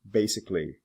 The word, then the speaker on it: basically: this ending some don't the AL is not usually pronounced for example basic basically specific specifically public publicly